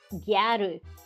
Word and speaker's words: Gyaru: It's just the word gal, but pronounced like Japanese phonetically. Gyaru.